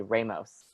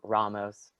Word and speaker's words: Ramos: I started saying my last name differently, like on purposely, not how it's supposed to sound in the Spanish language. Like I'll say Ramos, right? Which isn't, like, you're supposed to roll your R, and Ramos.